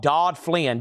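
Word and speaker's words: Daudflin: No, it's called Dodd Flynn, D-A-U-D-F-L-I-N.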